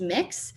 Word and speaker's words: Mx: I myself prefer the honorific MX, which is pronounced mix, and that is a gender neutral version of the honorific.